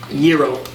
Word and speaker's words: gyro: And as we're walking in, SJW Anthony over here decides to go, oh, you know, I actually learned it's pronounced gyro, not gyro.